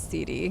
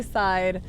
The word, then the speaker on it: Cide: why it is pronounced cd it's the first two letters of my first and last name it is literally my initials so yeah so i'm